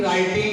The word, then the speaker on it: writing: Because the sound production in phonetics, if you go to phonetics area, though in writing it starts with W, but because W is not pronounced, it begins by right ra sound.